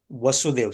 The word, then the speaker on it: Vasudeva: Vasudev. So this is pronounced as Vasudev, and Krishna is called Vāsudeva because he appeared as a son of Vasudeva.